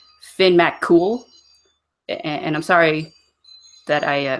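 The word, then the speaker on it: Fionn mac Cumhaill: let's see the it's looks like fee on Mac come hail and it's actually Finn Matt cool and I'm sorry that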